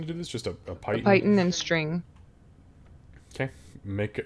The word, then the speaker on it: Python: Is it Python or Python?